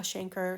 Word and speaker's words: chancre: There's different pronunciations of it though, so you may hear it in different ways. I'm going to write it out here. So some people call it a chancre, some people call it a canker.